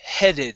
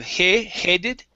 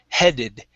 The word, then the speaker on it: headed: up is um okay headed instead of headed with an a sound it's a short e headed headed for the finish